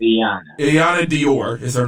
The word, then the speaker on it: Iyanna: Iyanna Dior is her name, spelled Iyanna Dior, was